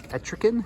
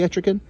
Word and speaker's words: Etrigan: we have the demon i believe it's etriken is that how you pronounce it from uh from dc i think it's supposed to be etrigan if not it's the